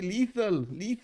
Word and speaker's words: Lethal: You keep saying little company. Lethal.